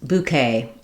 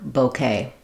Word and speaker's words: bouquet: Bouquet is more common in the UK, and both bouquet and bouquet are used in the US, so you can use either one if you're trying to speak US English.